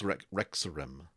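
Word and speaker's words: Rexxentrum: capital of the dwindling Empire uh it's Rex rexorim um I'm from Mexico uh I spell that it's like r e x x I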